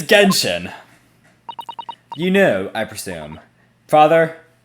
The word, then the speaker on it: Genshin: the game itself how do you go about pronouncing it impact okay it's it's it's genshin you know i presume father yes like gentian